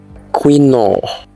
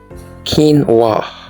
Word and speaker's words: quinoa: Do you say quinoa? It is wrong. It is pronounced this way: quinoa.